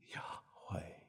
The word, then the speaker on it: Yahweh: You cannot properly speak it. It must be breathed. Yahweh, Yahweh.